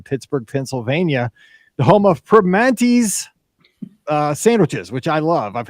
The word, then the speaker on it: Primanti's: and yes, we are home of the Primanti's sandwich, and that's how you say it, Primanti's. Like we don't enunciate a lot here in Pittsburgh. There's a lot of words that don't get the full enunciation, as the spelling goes.